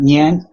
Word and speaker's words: Niang: Okay, so you know how to pronounce the Japanese currency, the yen? The yen, yeah. Yep. Yeah, just add an N before that and a G after that. So you have Niang.